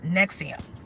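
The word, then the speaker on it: NXIVM: in Victor M as in Mary and it's pronounced nexium it's a sex coach air quotes sex cult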